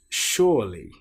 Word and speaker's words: surely: Then we've got surely. Now the s u here you'll notice there's no h but we're making the shh sound with the word shaw.